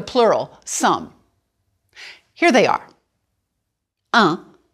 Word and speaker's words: un: Un, masculine, and pronounce this just like you did for the number 1.